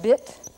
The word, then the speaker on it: bit: Caddo, the word for the number two, is pronounced bit. And we're not going to use that I symbol I was using a minute ago. That would be beat. But this is pronounced bit, so we'll use a small capital I.